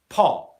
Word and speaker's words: pot: In Cockney English and maybe Essex English as well, you might hear people dropping their T sound, so they'll say pot, where they're not even going into position. But this doesn't sound very professional in English, and I really wouldn't recommend doing this in a formal situation, especially something like a meeting or a job interview or a presentation, okay?